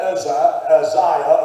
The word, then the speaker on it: Uzziah: that it's said about Uzziah, or Uzziah, however you want to pronounce it, if it's said about